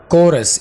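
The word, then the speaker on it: chorus: कोरस, इसको चोरस नहीं बोलना, कोरस।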